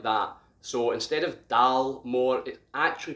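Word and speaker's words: Dalmore: stag on it and you'd expect the first three letters to say dal dal more however in gaelic the dal sounds a little different it sounds almost like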